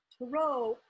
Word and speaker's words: tarot: because really that's where these really originally came tarot is a pathway it's a mystical pathworking from